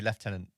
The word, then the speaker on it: Lieutenant: funny rank that because it's spelled Lieutenant but in the UK we say Lieutenant yes you do l-i-e-u yeah weird weird I'm sure there's some history there why it's pronounced that way but hey it's just a different pronunciation so I'm glad you